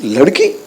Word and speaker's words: Ladki: So in my, it's not like Ladki, it's Ladki. That is how I pronounce it in my mind, and that might not come in the, just you see the logo.